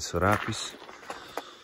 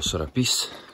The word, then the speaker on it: Sorapìs: Ci dirigiamo verso il famosissimo Lago del Sorapiss. O Sorapìs, visto che c'è l'accento sulla i.